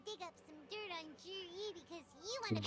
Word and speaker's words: Zhiyi: Chinese names are weird. It's spelled Zhiyin, but it's pronounced Jer-E.